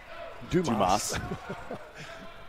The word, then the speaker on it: Dumas: Pronounced Dumas. As opposed to the way it's written.